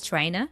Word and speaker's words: trying: tryina Focus here and I believe that here even more reduction is happening because what you just explain yeah try du but we don't hear the sound here he drops it so all is left is tryina trying to focus here